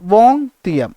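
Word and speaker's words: vingtième: അതിന് നോക്കിയേ, അതിൻ്റെ പേരാണ് വോങ് തിയം. എന്താണ്? വോങ് തിയം. ഓക്കെ, VINGTIEM എന്നാണ് ഇതിന് മലയാളത്തിൽ വായിക്കുമ്പോൾ വോങ് തിയം എന്നാണ്. എന്താണ്? വോങ് തിയം എന്ന പേരിൽ എന്ത് ചെയ്തു? ഉച്ചാരണം ശരിയാണെന്ന് വിശ്വസിക്കുന്നു. വോങ് തിയം എന്ന പേരിൽ എന്ത് ചെയ്തു?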